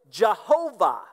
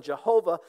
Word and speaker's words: Jehovah: of the why and the Y in Latin was pronounced with a J sound so they started pronouncing it Jehovah that's the word a